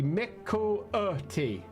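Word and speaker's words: Miqo'te: The Mikote, although if you're pronouncing that correctly, it'd be Mikote, because if you put nobody really cares about glottal stops.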